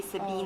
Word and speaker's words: Sabine: So you add like an accent on the E. On the E, Sabine.